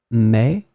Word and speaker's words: mes: So as you can see, the meaning is totally different, but you will pronounce them the same way.